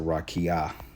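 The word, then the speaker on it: רקיע: Okay, it's pronounced, they said rakia. Okay, raka'ah, which means extended surface, solid, expands, firmament.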